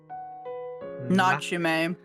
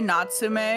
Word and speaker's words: Natsu: Not what Nach. He's trying to say Natsu, but like he probably feels awkward trying to say her name.